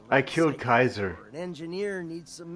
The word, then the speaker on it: Caesar: Sometimes security needs a I killed Kaiser or an engineer needs some menntats. Heck, Rad X is playing Universal. It's It's technically Caesar, but they pronounce it Kaiser.